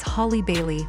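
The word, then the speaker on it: Halle Bailey: It's Holly Bailey, like Holly Berry.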